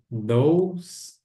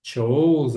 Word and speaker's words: those: E those, a pronúncia é those. Cuidado para não falar chose, alguma coisa assim. É those. O O aqui tem som de O, né? E o E aqui não é pronunciado.